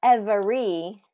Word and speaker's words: every: Not every, every, but every, every.